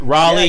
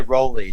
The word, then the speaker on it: Raleigh: that right away yeah a lot of people say rolly too but uh raleigh like uh like north carolina what did i say